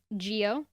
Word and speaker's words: Gio: It's Gio, like Mm. Giovanni.